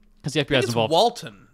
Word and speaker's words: Walton: Walton, not Walter. Walter? Walton Goggins. Walter Goggins? Walton. Sorry. Pretty sure it's Walton.